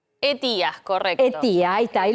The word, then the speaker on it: ETIAS: Bueno, vamos a empezar a escuchar hablar de una palabra que se llama etios. Etías, correcto. Etía, ahí está, ahí lo Etías.